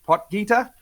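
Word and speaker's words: Potgieter: do we say his name will it's Aldrich potger I just call him Aldrich he's on my list I definitely uh I want some some Aldrich stock this week poer I believe I'm going to go with um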